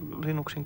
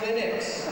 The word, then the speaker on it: Linux: How do you pronounce Linux? Well, I pronounce Linux as Linux. However, the total answer to that is, if you are Linus Torvalds, you probably pronounce it as Linux.